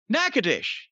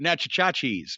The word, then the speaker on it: Natchitoches: Scott Williams in, okay, he spells this phonetically, Natchitoches, Louisiana. Natchitoches. Okay, it's spelled Natchitoches. That's what we used to call it when we drive through it, Natchitoches, but it's Natchitoches.